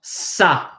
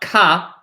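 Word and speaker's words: ça: That is pronounced as a S. So for example, right? Like this word is pronounced sa. Sa. Not ka, but sa.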